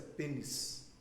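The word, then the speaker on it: πένης: Tem uma palavra que é muito feia a pronúncia, tá? Mas a pronúncia é essa, é pênis, né? Que é com pi, tá, gente?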